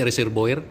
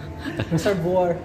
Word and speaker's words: reservoir: Pronunciation reserbo swiss. Hindi hindi reserboer. Reser reserboer. Reservoir ah reservoir.